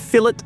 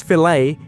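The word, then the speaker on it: fillet: Rest assured, no one here is intentionally mispronouncing anything: that's just how we speak. And if fill-it versus fil-lay is already pushing your limits, then brace yourselves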